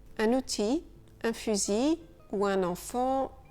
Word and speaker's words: fusil: Et pour compliquer encore un peu les choses, IL, donc cette fois avec un seul L, IL, il peut parfois se prononcer I. Un outil, un fusil ou un enfant gentil.